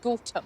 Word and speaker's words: Gotham: You are in the wonderful village of Gotham. Gotham. Absolutely. So that's how you pronounce it, Gotham. Home of goats.